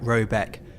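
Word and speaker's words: Råbäck: The manor house, or herrgård in question, is to be called Raback, pronounced something like Robeck, though that is not its name.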